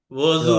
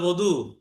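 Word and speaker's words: وضو: হ্যাঁ, যেমন ওয়াজু, জদ ওয়াও, দদ, ওয়াও, দদ, আবার দদ ওয়াও। এটাকে আরবিতে বলে ওদু, মানে আর অজু উর্দু ফার্সিতে বলে ওযু, যেমন আমরা নামাজের আগে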